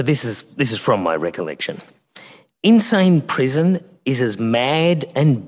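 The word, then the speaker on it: Insein: that I arrived outside Insane Prison. Insane Prison is the great central prison there in Yangon. It's spelt different than the insane that we're used to, but the sound is relevant, I think.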